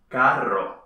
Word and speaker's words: carro: Mit zwei ähnlichen, aber verschiedenen Aussprachen. Oder? Genau! Caro, teuer, ist nicht dasselbe wie carro, Auto.